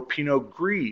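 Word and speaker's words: Pinot gris: you may also know Pino gree or pinio and those are just the French versus Italian pronunciations there but Pino ggio was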